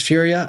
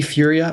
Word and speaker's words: Furia: d Furia on Twitter really emphasize the F you dfu I had I spelled my name over the phone because I realized I was I was saying that to people how do you say it then f as in Frank u r i a nice um f